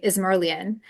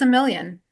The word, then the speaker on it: Izmirliyan: just uh I mean you can pronounce every letter and you would you would say is merlan but a lot of times people don't remember that so I just say it's a million it's a million all